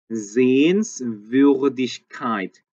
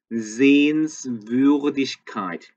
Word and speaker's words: Sehenswürdigkeit: 얘는 원래 sehenswürdig가 있었고 이걸 명사로 만드느라고 kite를 붙여준 거기 때문에 그 발음을 살려서 sehenswürdigkeit라고 읽어주는 게 맞습니다.